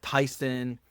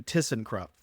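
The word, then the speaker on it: Thyssenkrupp: I couldn't even pronounce I was calling that Tyson and Tucson and then remembered that it should be like kissing so then I said oh okay that's easy just do tissen crup and so that kind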